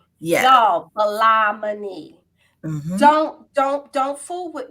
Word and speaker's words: Ballah-Moni: messing up their first name y'all yes it's pronounced balaamini balamani don't don't don't fool with me y'all today